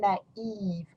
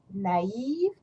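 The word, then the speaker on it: naïve: So masculine, naif, feminine, naive. And you see the plural form masculine will have the same sound, naif, naif. You just add an S. And the feminine, naive, naive, you just add an S, you don't pronounce it.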